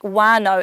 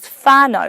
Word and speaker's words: whānau: Like, you might notice me saying words like wānau and wakapapa, when it's normally said as whānau and whakapapa. I'm not saying it wrong, that's just my local dialect from Whanganui.